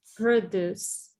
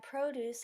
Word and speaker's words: produce: address on the envelope we often stress the second syllable of a two-syllable verb can test produce perfect address